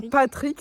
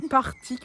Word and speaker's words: Partick: C'est pas Putain, c'est pas Patrick, c'est Partick. C'est écrit exactement pareil.